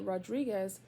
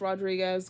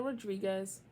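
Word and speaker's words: Rodrigues: Ramos and N Nina Rodriguez no Rod rodri r o d r i g u s I don't think it's Rodriguez girl and that can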